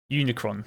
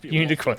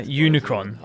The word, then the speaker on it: Unicron: I think you might Unicron not unicorn I was close all right slap me own yeah Unicron I'm Unicron is basically a big